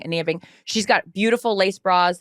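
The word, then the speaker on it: Anine Bing: It's not Annie Bing, Ania Bing.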